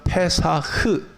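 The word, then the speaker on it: פֶּסַח: 6월절이라는 것은 히브리 말로 페사흐, 따라해 봅시다. 페사흐. 따라해 봐요.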